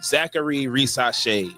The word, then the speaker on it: Zaccharie Risacher: their most recent outing Zachary racee is how you say that name um in a draft